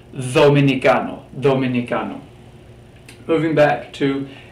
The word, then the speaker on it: dominicano: letters here pronounce are pronounced like the soft th in the word the so not dominicano dominicano dominicano moving back to